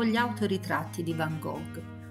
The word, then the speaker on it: Van Gogh: o gli autoritratti di Van Gogh o Van hoch come pronuncia nel suo nome in Olanda il paese in cui